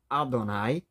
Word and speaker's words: Adonai: Deus que aparece inicialmente como o tetragrama e da ideia e que a gente pronuncia que como Adonai que é traduzida na